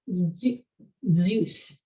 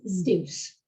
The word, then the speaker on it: Zeus: A sequence z, a lot of people say things like Zeus, when in fact it's Zeus.